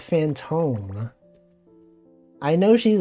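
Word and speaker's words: Fantome: And she pronounced it like Phantom.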